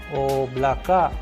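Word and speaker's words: облака: And with the help of an English approximation, we can pronounce the letter O as in chore. Chore. A sample Russian word which we have so that we can master the sound of letter O as ina. Oblaka which means cloud.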